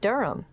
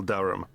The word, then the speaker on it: Durham: Of course, I should know that, but it's just one of those names that sounds quite different from the way you spell it.